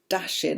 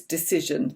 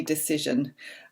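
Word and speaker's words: Dacyczyn: absolutely all of amy dashin i think you pronounce her name no you know it's decision that's right she makes a point of saying that in the book amy decision um the typewood cassette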